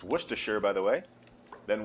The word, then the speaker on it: Worcestershire: that sauce that no one can seem to pronounce. It's Worcestershire, by the way.